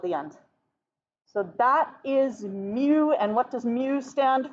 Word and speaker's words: mu: is the greek letter mu which is pronounced like a little kitty cat okay and you want